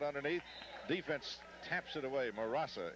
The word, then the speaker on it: Murasa: defense taps it away murasa em a ras a that is correct I would have never